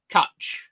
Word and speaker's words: cwtch: Pronounce cutch or hug.